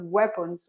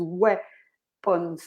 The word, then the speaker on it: weapons: The pronunciation of weapons is weapons, not weapons. A lot of people pronounce weapons.